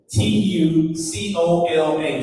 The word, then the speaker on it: Bantucola: So it's Bantucola. So Bantu like Bantu knots, and then cola like Pensacola, Cola or Pensacola, however you want to say it.